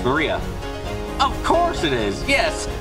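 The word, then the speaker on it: 真里亞: Of course, is pronounced Maria.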